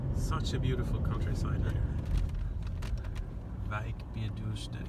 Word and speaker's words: Wijk bij Duurstede: Is it Bish or Bij? Bij. Wijk bij Duurstede. Stede. Ja, stede. Wijk bij Duurstede. Wijk bij Duurstede. Yeah. And you have to be Wijk bij Duurstede. You have to say it like that. It's better.